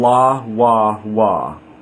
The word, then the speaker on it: לוו: So, La Wa Wa is the divine name. Again, different pronunciation from Shem angel name because we're using a different pronunciation method, base vowels.